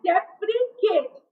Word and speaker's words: deprecate: Now you have to concentrate on the pronunciation also. It is deprecate.